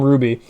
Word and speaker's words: RWBY: For like Team Ruby, you know, RWBY. Like, that's not how Ruby is spelled, but, you know, that's just like... that's just how we say it, you know?